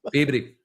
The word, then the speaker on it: Peabody: And can I also compliment you on your pronunciation of Peabody? Because Peabody.